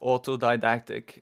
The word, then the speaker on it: autodidactic: So, it's pronounced autodidactic. Uh autodidactic.